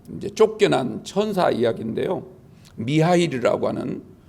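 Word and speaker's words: Михаил: 지었고 죄를 짓고 이제 쫓겨난 천사 이야기 인데요 미하일 이라고 하는 에 우리 성격이 뭐 님이 카일로 대인데 그걸 러시아 c 발음으로 미하일 이렇게 있는데 미아 1 천사가 이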